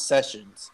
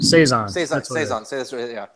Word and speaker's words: saison: say it sizing so I always feel like sessions but it's not sessions know its size days aren't saison they're always like at